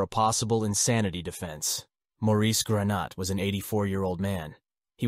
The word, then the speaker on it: Granat: Maurice, how did you pronounce Maurice's last name? Granat.